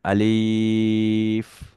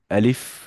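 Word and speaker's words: ألف: আলিফ। আলিফ। আলিফ। আলিফ বলার সময় এফ, বাতাসটি বের হতে থাকবে।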